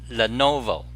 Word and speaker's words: Lenovo: They got bought by a Chinese company, Lenovo. How do you pronounce it? Lenovo.